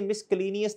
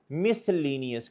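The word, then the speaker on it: miscellaneous: हुआ other expense miss इसे मिसलेनियस नहीं पढ़ते मिसलेनियस क्या बच्चों सी साइलेंट है सी क्या है बच्चों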